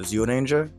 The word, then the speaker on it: Zyuranger: In Japanese, it's called Zyuranger, and that's spelled Z-Y-U and then Ranger.